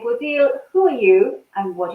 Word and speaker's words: Bodil: So today we have Bodil. Have I pronounced that correct?